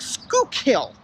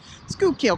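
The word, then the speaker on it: Schuylkill: to tell that you're from Pennsylvania you could pronounce certain things like School kill Conshohocken and Contra Hawkins is actually a town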